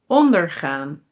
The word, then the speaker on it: ondergaan: And then "ONDERgaan" & "onderGAAN".